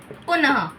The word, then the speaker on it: पुनः: जैसे उदाहरण अगर हम उसके लें तो त का हुआ हमारा अतः न का हुआ हमारा पुनः यानी कि देखिए इसके अंदर ह का उच्चारण हो रहा है।